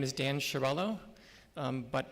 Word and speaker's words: Chiariello: As we said, my name is Dan Chiariello, but I really like when you say it, Mr. Chiariello, because that's the way it should be pronounced. My father got it all wrong when he came here, so thank you for that.